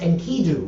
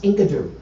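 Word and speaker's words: Enkidu: is spelled e n k i du is pronounced enidu but it's not it's inadu which is more the pronunciation of Jimmy duranti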